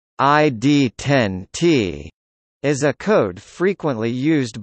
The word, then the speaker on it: ID10T: ID10T, pronounced ID10T, is a code frequently used by a customer